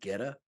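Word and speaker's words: goetta: for quite some time it's called geta please tell me I'm pronouncing that right yeah yeah you got it and and it is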